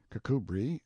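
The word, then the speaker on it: Kirkcudbright: Pronounced Cubri Flanover Marshbank Sellers Viccount Barkley of Chumley Castle, Warshire.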